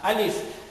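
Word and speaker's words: ألف: So parang kung gusto mong ma-perfect yung pagbigkas ng alif, hawakan mo ang iyong ilong, alif.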